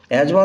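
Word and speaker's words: asthma: such এজমা bronchitis et cetera এজমা দেখো উচ্চারণ কিন্তু বানানটা এস্থমা লিখতে হয় এস টি এইচ এম এ ব্রঙ্কাইটিসের বানান বি আর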